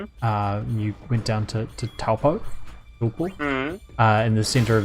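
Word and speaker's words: Taupō: largest lake as um as my mum famously pronounces it topal opal which is well then what next one of the ways you can just be incorrect right yeah yeah yeah it's extremely incorrect but she she has difficulty with the proper maori pronunciation so yeah yeah i don't know if it's any better or worse than just going with the lazy english version um it's definitely worse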